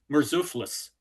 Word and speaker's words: Murzuphlis: Okay, so there's Alexius III, Alexius IV, Isaac, and a guy whose name is very difficult to pronounce, but it's Murzuphlis.